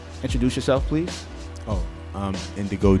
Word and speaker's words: Gndigo: yourself please oh um Indigo and uh the g is silent I'm from a little